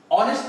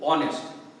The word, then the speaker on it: honest: why n is used honest person again h is not used in the pronunciation it is the o honest though it seems that